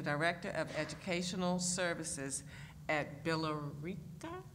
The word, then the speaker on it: Billerica: In 2016, she became the Director of Educational Services at Billerica? Billerica. The E is silent.